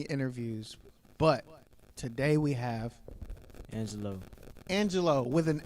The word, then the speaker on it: Angxlo: But today we have Angelo. Angelo with an X. Go ahead and spell that out.